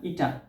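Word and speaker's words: eta: উচ্চারণ কিরকম? রস্বই টয় আকার ইটা। হ্যাঁ, এটাকে বলবো আমরা ইটা।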